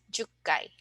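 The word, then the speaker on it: 十階: So we have ikkai, sangai, rokkai, hakkai, and jukkai. Okay? So let's try to pronounce from 1 to 10.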